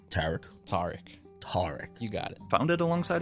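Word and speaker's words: Tariq: Tarek.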